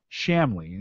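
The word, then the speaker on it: Chamlee: i shouldn't have uh c-h-a-m-l-e-e shamley is probably how it's pronounced uh from the friendly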